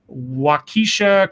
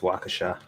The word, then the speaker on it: Waukesha: I think it's pronounced Waukesha. Waukesha?